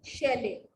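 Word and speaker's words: Scheele: Next is Shelley. How do we pronounce it?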